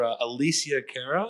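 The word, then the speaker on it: Alessia Cara: We're playing the after party for Alicia Cara.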